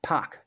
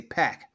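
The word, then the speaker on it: Pak: of atlas written by Greg puck that's how you pronounce his last name I used to say PAC he's not packaged POC issue number one and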